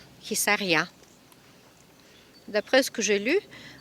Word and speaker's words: Hisarya: Et nous voilà côté sud de la ville de Khissaria. Pour votre information, si vous voulez le chercher sur Google, pour plus d'informations, ça s'écrit H-I-S de Sophie A-R-Y-A, Khissaria.